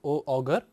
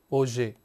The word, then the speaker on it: Auger: Here we say that O-U-G-E-R, it is not pronounced as Auger, but it is pronounced as Auger, A-U-Z-E-Y. So, pronunciation is more like Auger electron spectroscopy, and as we see that we